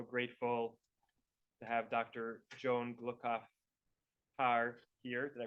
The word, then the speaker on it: Gluckauf: Joan Gluckauf Haahr here. Did I pronounce her name correctly? That's fine. Gluckauf. Gluckauf Haahr Yes.